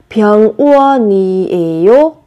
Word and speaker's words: 병원이에요: Và khi phát âm thì các bạn sẽ nối âm lên. 병원이에요.